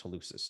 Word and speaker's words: hallucis: longus okay um now if you want to make it a hard C you can do that Lucas but it's hallucis longus dorsiflexion and invert wait